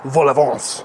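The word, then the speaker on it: vol-au-vent: If you just type in puff pastry cups or vol au vent, which is how they say it in French.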